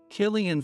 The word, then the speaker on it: Killian: Their cards read, Killian Foster, Managing Editor at Daylight Press, and Catherine Yates, Editor-in-Chief of Upton Magazine.